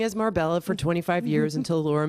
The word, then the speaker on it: Marbella: Marbella, our old friend Marbella. Which I've been mispronouncing as Marbella for 25 years until Laura Mangone told me it's Marbella. like paella.